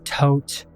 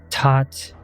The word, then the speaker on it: Thoth: I know that there's plenty of different ways to pronounce his name uh tote taught uh like there's so many um when I was growing up a little kid reading about Egypt researching it all on my own because that's just the kind of kid I was in my head it was pronounced Thoth so whenever I mentioned him throughout this entire series I'm gonna say Thoth because that's how I like to pronounce it or I might